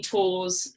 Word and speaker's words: Tors: So as Sarah said, everybody calls me Tors. It's a very bizarre spelling, so just, it sounds like, it rhymes with pause, is the easiest way to remember it.